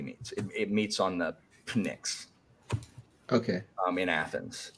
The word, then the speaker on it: Pnyx: So Samantha, here's how I pronounce them. So it's Pnyx for the platform.